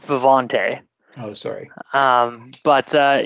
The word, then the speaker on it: Vivanti: you want to plug vivanti so it's actually pronounced vivante oh sorry um but